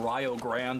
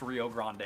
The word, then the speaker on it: Rio Grande: you just joining us we are going to be calling this team ryo grand we are not pronouncing it wrong this is the team from ohio oh actually shout out ohio i live there i love it but um rio grande they are from ohio and it is not pronounced rio grande so you guys are